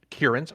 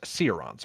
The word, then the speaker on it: Kieran: The Admirals will be Muffin Top Scout and Kierans for the Marines, which I always used to mispronounce Sirons, but that's not how it's pronounced. It's Kieran.